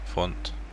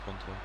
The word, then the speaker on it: Fonte: Choice heads it long but finds Fonte. I think he's pronounced Font, or I pronounce it Fonte.